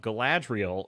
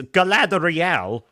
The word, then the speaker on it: Galadriel: it reminded me of gadriel in rings of power because she goes around mouthing off at people demanding things threaten said name wrong Gad G it's Galadriel or gadriel either way